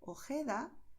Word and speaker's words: Ojeda: Por eso, en muchas zonas donde se habla el español, los nativos dirán Jalisco, Ojeda, Jipijapa, Tajo, Tajuña, Gerona, Gijón. ¿Ves? Es garganta, pero no estamos forzando.